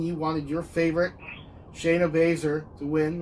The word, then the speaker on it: Baszler: You wanted your favorite, Shayna Baszler, to win, right? Yes, I am I pronouncing it wrong? Right? Wait, did I say Baszler? Is it Shayna Baszler? Shayna Baszler, yeah.